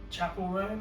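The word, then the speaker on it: Chappell Roan: And then we saw Chapel Roan, is that how you pronounce Yeah.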